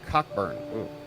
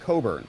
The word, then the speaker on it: Cockburn: dude with the surname cockburn he insisted it's pronounced Coburn oh well due to this unique gramatical phenomenon cnk or silent which is extremely fortunate